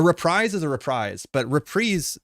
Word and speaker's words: reprise: but repre like so repre is the way that you pronounce it when it comes to music like a musical repre is like The Encore the repeat the Koda and that's generally in music referred to repre and I'm assuming it's